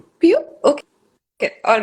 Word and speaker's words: Pieux: How do you pronounce it? Pio. It's called Pio. Pio.